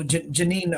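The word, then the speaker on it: Jenin: it's spelled Janine but it's I mean uh pronounced Janine but it's j-e-n-i-n and the last name is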